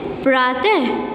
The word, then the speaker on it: प्रातः: एंड प्रातः, प्रातः, मेरे बाद उच्चारण करो, प्रातः, ओके।